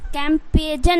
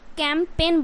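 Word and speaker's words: campaign: तरीके से क्या है कैंपेन कैम पेजन नहीं बोलना है ओके कैम पेजन नहीं बोलना है कैंपेन बोलना है उसी तरीके से क्या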